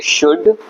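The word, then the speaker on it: should: इसको मैं बताता हूं आप सारे वर्ड में एल साइलेंट होता है इसको बोलेंगे शुड इसको बोलेंगे वक टॉक हाफ काम तो देखा आपने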